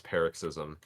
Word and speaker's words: paroxysm: if you Google the word and click the sound thing, I was right. It's paroxysm. That's a really stupid pronunciation, and I Zinth, hate you are it.